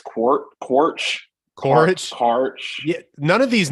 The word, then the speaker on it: Quaritch: Stephen Lang returns as, how do you pronounce Quaritch? I think it's Quaritch.